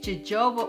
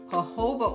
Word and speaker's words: jojoba: that I primarily use Joba oil or many of you have corrected me saying it's pronounced hoba oil well you know that